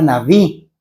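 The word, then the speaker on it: נביא: La palabra profeta viene de la palabra naví, que naví no se pronuncia la letra alef, que viene a un lado de la palabra, por así decirlo.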